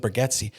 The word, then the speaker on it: Bargatze: You can make somebody could have told Nate Bargatze he's got to be, or I think he pronounces it Bargatze, but Nate Bargatze is, you got to have some more edgier.